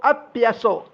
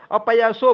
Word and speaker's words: अप्यसो: देखिए अब यहाँ क्या हो रहा है कि भक्त अपयसो बोलना, अपयसो अपयसो मत बोलिए, अप्यसो अप्यसो अप्यसो अप्यसो। अपयसो बोलने में बिल्कुल गलती भी हो गई, उच्चारण में सही नहीं आएगा।